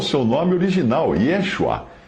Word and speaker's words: Yeshua: judeu, que use então o seu nome original, Yeshua, e não Yahshua ou Yahusha. Lembrando que o poder do nome não está na pronúncia, mas na pessoa que o nome representa.